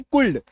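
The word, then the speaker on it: could: ओ यू एल डी कायदे से लग रहा है कि हमलोग इसको कुल पढ़ दे स यू एलडी कुड है ना लेकिन नहीं कुड पढ़ रहे इसको एच ए एल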